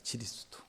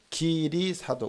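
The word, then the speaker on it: 基利斯督: 지리스두. 중국 발음으로 지리스두에 가까워요. 그것이 이제 기리사도, 우리가 읽으면 기리사도.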